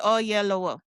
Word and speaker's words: Oyelowo: David O Yellowwo.